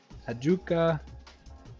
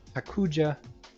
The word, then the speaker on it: Hakuja: Hajuka. Hakuja. I've been saying it wrong the whole time. Hajuka. Yeah, this is U.J., not Ju.